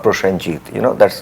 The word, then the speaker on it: Prosenjit: me about I mean people used to pronounce me prasjit not prashanjit you know that's like